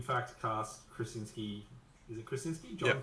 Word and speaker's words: Krasinski: If they have in fact cast Krasinski, is it Krasinski? John Yep. Krasinski, is that how you say it?